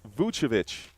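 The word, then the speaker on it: Vučević: So, Joshua saying it's pronounced Vucevic.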